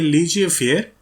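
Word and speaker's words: laissez-faire: चलो, देन है लीजिए फेयर, इसको इस तरह से प्रोनाउंस करना, या फ्री रेन लीडरशिप।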